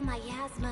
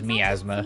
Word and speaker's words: miasma: Large scale myasma. I know it's always pronounced myasma, but I always read that as miasma.